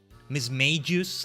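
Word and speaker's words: Mismagius: Miss Magius, like mage.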